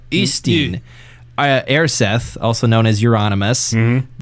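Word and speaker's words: Øystein: It's Ustin. It's supposedly Ustin. Like the I in bird or something like that. Ustin.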